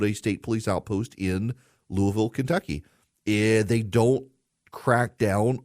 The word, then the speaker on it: Louisville: notice my proper pronunciation Louisville Louisville sounds like I got marbles in my mouth Louisville Louisville Kentucky Louisville